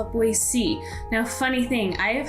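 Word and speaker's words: Boise: to talk about is boy c not pronounced with a z but rather with a c so boy c now to me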